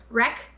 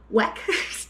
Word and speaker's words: Weck: And then I also got some of these, I try to say it right, Rec, there's no R in it, Carolina. Weck, dang it. Wreck, dang it, Weck jars is what I'm gonna say.